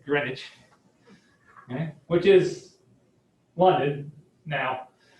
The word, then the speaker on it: Greenwich: through technically greenwich england just spelled greenwich but you don't pronounce it that way it's greenwich okay which is wanted